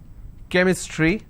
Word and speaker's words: chemistry: sound for example change but when i have the word chemistry ch becomes ker sound so i say chemistry